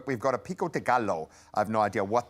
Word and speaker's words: gallo: But we've got a pico de gallo. I have no idea what that is. What does it mean, Aiden? Pico de gallo, the L is silent. Gallo. Yeah, it's like Gallo.